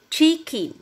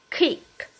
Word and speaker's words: kick: Con không đọc là chick, con đọc kick, kick.